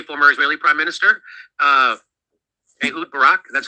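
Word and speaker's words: Barak: They are blackmailing uh uh uh the Israeli former Israeli prime minister uh Barack.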